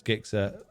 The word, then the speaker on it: Gixxer: don't even go there if you're telling me that g is pronounced with a j then you're wrong so are all the